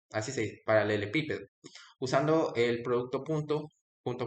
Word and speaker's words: paralelepípedo: Se pronuncia paralelepípedo, así se paralelepípedo.